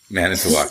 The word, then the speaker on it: Manitowoc: many talks serve Department series I hope I pronounced that right many talk right manitowoc yeah yeah and the join us today is